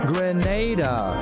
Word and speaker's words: Grenada: So today, like we Germans say, we are in Grenada. But I heard in English it's called Grenada. Say it right. Grenada. Say it right. Grenada. That's right. Grenada. There we go. Say it right. It's Grenada. It's not Grenada.